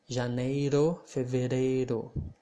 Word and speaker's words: janeiro: i don't know janeiro it's not like a nero not fever rayro but janeiro kind of similar to